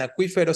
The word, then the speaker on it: acuífero: En este caso, el diptongo wi en acuífero sí se tilda, pero porque es palabra esdrújula, ¿no?